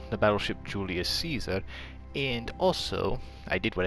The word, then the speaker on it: Giulio Cesare: It's the battleship Giulio Cesare.